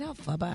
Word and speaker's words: Elphaba: And of course, Glinda and Elphaba. Is it Elphaba?